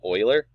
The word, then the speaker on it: Euler: So basically, with this selected, go to Curves, Change Rotation Interpolation, and then Independent Euler. That's how you say it, believe it or not.